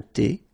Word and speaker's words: thé: Un café glacé, un thé, remember H is not pronounced.